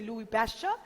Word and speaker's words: Louis Pasteur: asked who discovered fermentation you must be able to answer Louie Louie pasture or you know you can't pronounce anyone but it is better you say Louie pasture I just caught formation